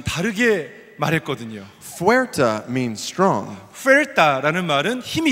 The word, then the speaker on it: fuerte: And they said fuerte.